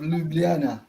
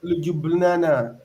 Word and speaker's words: Ljubljana: University of Ljubljana. You don't Okay, pronounce the J. University of Ljubljana.